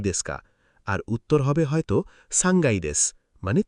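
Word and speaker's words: さんがい: 1 তলা ইক্কাই, 2 তলা নিকাই, 3 তলা সাংগাই। একটু থামো, 3 তলায় খেয়াল করো, সাংকাই না বলতে হবে সাংগাই। কাইয়ের জায়গায় গাই হয়ে যায়। এটা জাপানি উচ্চারণের নিয়ম।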